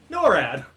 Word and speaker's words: NORAD: yeah you know and n-a-a-d-c yeah norad that's how it's pronounced uh what state would